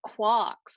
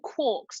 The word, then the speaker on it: quarks: these weird things called quarks, or quarks, depending on which particular pronunciation you want to use. You can use either.